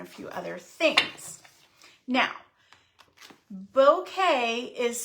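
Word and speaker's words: bokeh: The 6x6 pack of beautiful bouquet paper.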